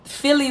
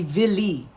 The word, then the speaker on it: Vili: So Philly was just a mispronunciation, which will be common and from somebody in that time period that the movie is in the South, right? It actually it's supposed to be Vili.